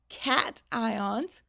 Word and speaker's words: cation: Positively charged ions are called cations, and negatively charged ions are called anions. Those words are pronounced a little bit differently from how they look like they would be. A cation and an anion.